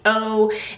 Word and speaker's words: Gallardo: Her name is Chloe Gallardo, and I don't know if I'm pronouncing her last name right. Gallardo, it's Gallardo, and I know that